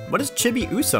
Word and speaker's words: Chibiusa: So, we pronounced her name Chibi USA.